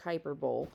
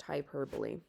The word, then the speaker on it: hyperbole: does not look like it looks like hyperb but it's actually pronounced hyperbole so let's go ahead